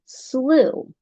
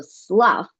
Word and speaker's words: slough: Well, that word is actually the word slough. And slough is a swamp. However, because it's English and let's throw another curveball in there, there's actually a different pronunciation of this word that rhymes with rough. So, sluff when it is a verb.